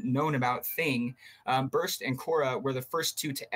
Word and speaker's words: Cora: take care of this yeah so you mentioned coral what's that yeah yeah Cora so it's spelled sea or qo r a lot of